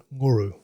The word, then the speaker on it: Nguru: Here at near Gundaroo at Nuru. Can you pronunciate that correctly, the name of your property? Sure, I can. So the local Indigenous people would call it Nguru, and it's been named